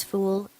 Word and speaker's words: ful: in every egyptians diet full pronounced as fool is made of fava